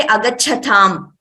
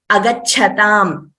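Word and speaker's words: आगच्छतम्: So we tend to say agachatham automatically. So that we should avoid. Wherever there is a mahaprana, only that letter should be pronounced as a mahaprana. The next letter should be an alpaprana only.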